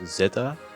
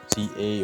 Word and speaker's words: Z-A: So yeah, I also recently figured out that it's pronounced Pokemon Legends Zeta, and not Z or ZA, or I already heard people calling it Zay, Za. So yeah, it's actually Zeta, and it makes a good.